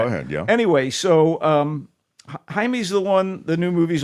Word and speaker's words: Jaime: When young Jaime Reyes, we'll call him Jaime, let's get the pronunciation proper here. Jaime Reyes, it looks like Jamie, a Mexican-American teenager bonded